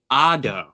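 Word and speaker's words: As d'Or: uh known as the Ado I I did my best to pronounce that it's a French pronunciation Ado or easier to pronounce golden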